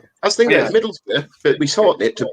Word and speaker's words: Middlesbrough: they pronounce certain towns Durham. like Edinburgh or Middlesbrough. They always put the borough. Edinburgh or Middlesbrougugh. No, it's Middlesbrough.